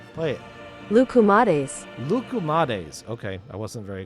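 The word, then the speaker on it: λουκουμάδες: Pronunciation. Play it. Lukumades.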